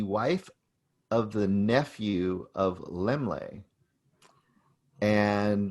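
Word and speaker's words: Laemmle: of the nephew of lemley and lemlay is the name you probably know lemley theater you might be saying it wrong in california he was a huge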